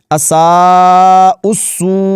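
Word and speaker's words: أَسَاءُوا السُّوأَى: الله وكانوا بها يستهزئون۔ تو اس لفظ کو آپ نے اساء السوء ایسے پڑھنا ہے، اس یا کو بھی نہیں پڑھنا اور یہ واو اور الف بھی نہیں پڑھے جائیں گے۔ اگلا لفظ دیکھ لیتے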